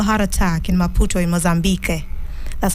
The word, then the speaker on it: Mozambique: He died of a heart attack in Maputo in Mozambique. That's how it's pronounced, actually, Mozambique.